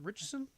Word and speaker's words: Ritchson: It's going to be Alan Ritchson. Did I pronounce his name? Ritchson?